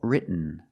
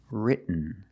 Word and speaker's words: written: that I got you other example written written so you can say written or written written is more common just don't say written it's written let's look